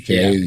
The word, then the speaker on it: Canuck: Well, we're going to agree with the Christian Canuck here, and I believe it's Canuck, right? Kanuck. Yeah, that's how you say it.